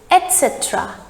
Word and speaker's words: etc: the right pronunciation is etc etc the t sound comes etc i brought apples